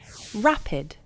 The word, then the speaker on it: rapid: - you could say RAPID rapid rapid the stress is on the first part of the word /ra-puhd/ you can't make rapid